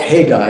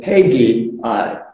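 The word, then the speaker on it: Haggai: taken from uh they're you can just call call it hey guy if you want to that works uh that's one of the pronunciations another is hey b i but I think hey guy is just the easiest way to get through and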